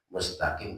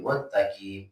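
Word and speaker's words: مستقيم: Arat itu adalah orang yang bacanya mustaqim jadi muttaqim. Padahal kan ada kalau bahasa kita itu apa ya orang bacanya pengin cepat muruk apa kayak jadi kayak mesosolen gitu bacanya. Kalau kata gitu baca iniratal muttaqim. Jadi bukan mustaqim tapi muttaqim.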